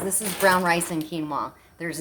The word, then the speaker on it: quinoa: rice and quinoa that's how you say it quinoa all right that's what we're gonna do i